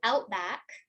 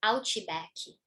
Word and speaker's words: outback: And here too, outback, right, would become ouchibaki. So you have this extra ch sound here and baki instead of back.